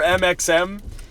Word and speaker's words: MXM: Yeah, the X is silent. So it's funny when Brennan said we are MXM, somebody in the crowd